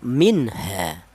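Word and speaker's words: مِنْهَا: Cara bacanya minha ya minha jelas bahwa nun matinya ini dibaca izhar atau nun matinya ini dibaca jelas minha. Jangan nun matinya ini dipanggil C samar jangan minha ha.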